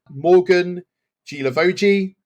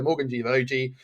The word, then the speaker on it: Guilavogui: Go himself, Fabrizio Romano, Morgan Guilavogui. It's how it's pronounced, but it's not how it's spelled.